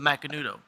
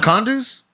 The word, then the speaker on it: Macanudo: I mine was, haven't uh, smoked The one Macandus? in like a long time. Well, how the fuck do you pronounce it then? I think it's Macandu. for me it was Romeo. thought it was and Juliet. Macanudo.